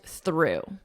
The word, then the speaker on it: through: The past simple of the verb throw, through, exact same pronunciation.